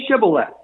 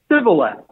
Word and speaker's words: Shibboleth: And he said, Shibboleth. He was not able to, he could not pronounce it right. He couldn't say the SH sound, sh. He would only say it with an S sound.